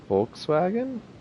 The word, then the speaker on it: Volkswagen: the v is no the v is not like a w in german the b is like an f in german yeah you say then how do you say volkswagen volkswagen i mean so our